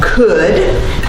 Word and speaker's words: Cudd: I have the opportunity to introduce Cudd, but it's spelled C-U-D-D, but it's pronounced C-O-U-L-D.